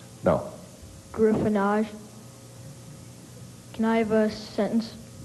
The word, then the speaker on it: griffonage: screen round 21 capturing this on video Griffin gyffin can I have a definition gryffin is careless handwriting um crude or a crude or illegible scraw what's the origin French look on face any alternate pronunciations no gyffin can I have a sentence the pharmacist assured